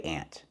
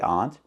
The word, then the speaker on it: aunt: Texas we say ant maybe some people say aunt but ant is the most common way to say the word All Over America and even in Texas so if you want to sound natural say ant that's what we say in Texas ant just like the insect so this is an